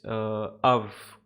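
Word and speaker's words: Euwe: I used to call it Iway, but I think it's Av or something.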